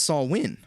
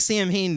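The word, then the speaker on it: Samhain: me that um uh now clayton says it's pronounced saul win well how is it you know it looks like sam hayne to me i'm just gonna call it [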